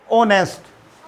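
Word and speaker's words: honest: शाबाश अब ये है ऑनेस्ट इसमें एच क्या है साइलेंट है ये ऑनेस्ट है अब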